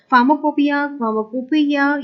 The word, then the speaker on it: pharmacopoeia: फार्माकोपिया इस तरह से आप प्रोनाउंसिएशन कर सकते हैं.